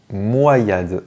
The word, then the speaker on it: Moyade: igolta Pokémon suivant est-ce qu'on dit moyad ou moyad et bien on doit le prononcer moyad alors je sais que c'est un Pokémon que